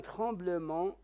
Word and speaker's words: tremblement: de la route le tumulte حادث مرور un tremblement de terre le T كذلك حرف صامت لا ينطق هزة أرضية les noyés هنا حرف الإي